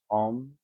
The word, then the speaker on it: Om: I'm going to chant Om. If you chant with me, just make the 3 syllables all the same length. This microphone doesn't pick up the U and the M.